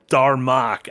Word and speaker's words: Darmok: And I believe it's Darmok.